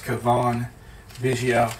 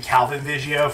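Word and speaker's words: Cavan Biggio: We got a future stars, Kavon, Vigio. How many people other than me pronounced his name Calvin Vigio for like a year and then realized that it was very wrong?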